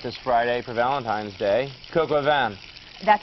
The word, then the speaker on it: Coq au vin: Coq au vin. That's how you pronounce it. Coq au vin.